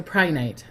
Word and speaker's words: Prehnite: something like that, but I've heard that it's Pri. They say saying it that way, even though it's spelled Pre. So Prehnite. Hello, Emilio.